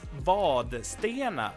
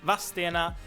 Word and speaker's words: Vadstena: The city or town of Vadstena is usually spelled and pronounced by a lot of Swedes as Vadstena.